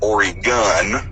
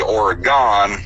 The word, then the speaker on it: Oregon: always grew up her to hear it pronounced Oregon but according to the locals up here is pronounced ory gun and apparently if you say or gone they immediately Peggy is an out-of-towner but like